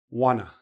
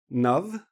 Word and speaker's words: one of: Wanna the best, and keep the best. Or, if you want to use the V, you keep the wa, nuv, make it like blend into the next word.